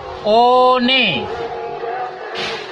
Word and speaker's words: one: Ah, jangan dibaca o, one.